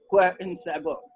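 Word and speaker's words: cœur en sabot: So it is quoi en sabot. The French, the way they pronounce it.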